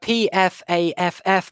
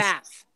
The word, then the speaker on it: PFAFF: Then we have PFAFF Motorsports Porsche 911, which I really want to read as PFAF. I just think that's so funny. It's Paul pronounced Miller Race. FAF.